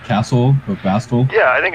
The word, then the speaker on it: Bastl: It's like maybe is it like Castle or Bastl? Yeah, I think it's Bastl. Like that's how I say it. I pronounce the T.